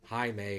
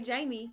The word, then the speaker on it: Jaime: the the character um Jaime or how you say it I just don't want to say it wrong don't say Jamie I think that his